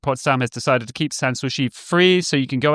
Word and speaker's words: Sanssouci: Sanssouci, I never know how to pronounce it. Sanssouci.